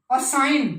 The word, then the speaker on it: assign: असाइन, duty असाइन करते हैं आपको, ASSIGN, असाइन, जी साउंड बोलते नहीं, गै साउंड।